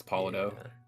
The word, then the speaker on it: Polito: Yeah, that's how you pronounce it. It's like Apollo, Yeah. like a Polito. Yeah, we go way back. He told me that it's Polito.